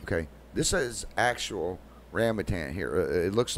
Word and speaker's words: rambutan: Pronounce it. It is a rambutan. Okay. This is actual rambutan here.